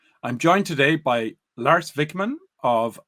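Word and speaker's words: Wikman: Do you want to give us the the real Swedish pronunciation? L Vikman and I run a small consultancy called Unud.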